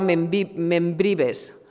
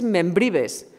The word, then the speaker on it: Membrives: actriz y cantante Lola Membrives. Este apellido siempre me cuesta un montón pronunciarlo. Membrives, es que es Membrives. Sí, yo pensaba que era Membrive, porque como lo de Membrive, no, es Membrives.